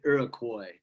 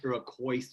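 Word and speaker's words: Iroquois: this is called if you lived with the iroy that's how it's pronounced iroy iroy it looks like iroise or something it's iroy all right it's a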